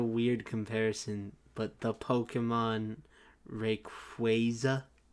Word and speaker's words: Rayquaza: comparison but the Pokemon Rayquaza I say Rayquaza instead and I know it's wrong yeah the the Hoenn